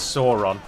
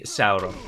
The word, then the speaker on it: Sauron: Of course, Sauron is pronounced Sauron, everyone knows that, and it's always very jarring to the ear when someone says Sauron. But Tolkien specifically lists and gives a guidance in the appendices to Return of the King. He tells you how to pronounce the various diphthongs and vowel sounds and whatnot, and it is definitely Sauron.